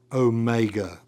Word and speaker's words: omega: So that is omega always a long O sound as in note or dot or tote.